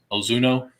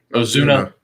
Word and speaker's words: Ozuna: to say his name but it's ozuno did i say it right ozuna it's not an oh it's an a so yeah so i